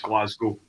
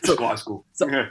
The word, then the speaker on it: Glasgow: Um but but just generally, it's um it's pronounced as if it doesn't have a W at the end. So, it's just glass school, right? Glas school.